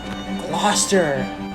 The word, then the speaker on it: Gloucester: you all love it it's gloster i don't really think this one needs any explanation it's gloucester there's plenty more so like